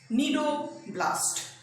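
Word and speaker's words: cnidoblast: Cell का नाम है नीडोब्लास्ट। नीडोब्लास्ट सी से शुरू होता है, स्पेलिंग सी साइलेंट है, नीडोब्लास्ट, इसीलिए इसका नाम भी है निडारिया।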